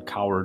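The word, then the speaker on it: Cowherd: I was listening to the I think Colin coward is how you say his name I was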